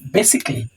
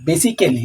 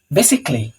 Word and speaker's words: basically: কিছু কিছু শব্দ আছে যেখানে এ সাইলেন্ট থাকে, সেটা হচ্ছে এমন একটা শব্দ, যেমন বেসিকলি। আমরা অনেকে বলি বেসিক্যালি, আমিও এক সময় বলতাম, কিন্তু এটা ঠিক না। বেসিকলি।